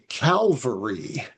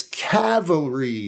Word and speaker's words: cavalry: They'll say calvary. It's not calvary. It's cavalry. like a Cavalier, the Cleveland Cavaliers basketball team. They're not the Calavaliers.